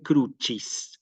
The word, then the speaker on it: crucis: vamos a decir aquí siempre crucis cruis como si fuera una ch sí persini San crucis